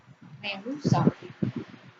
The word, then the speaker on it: rehúsa: La palabra rehusar aquí forma un hiato porque es una excepción que no cumple la regla general de acentuación. Rehúsa sí lleva tilde y forma un hiato, la unión de una vocal abierta con una vocal U que es tónica.